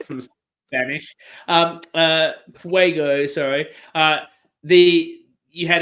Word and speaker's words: Fuego: TK, it's Fugo. Am I saying it wrong? Yeah, it's Fuego. Fuego.